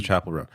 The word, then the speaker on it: Chappell Roan: So is it Chappell Roan? Is that what that is? Yeah. Okay. Like a church chapel. Okay, so Chappell Roan.